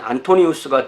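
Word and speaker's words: Antonius: 이 안토니라는 발음은 영어식 발음이고 원어식 발음으로 하면 안토니우스가 돼야 돼요.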